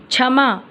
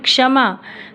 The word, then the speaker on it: क्षमा: और लेखन तहत परीक्षा छमा छमा शब्द नहीं होता है बच्चों हिंदी में इसे कहते हैं क्षमा क्षेत्रीय मां को आ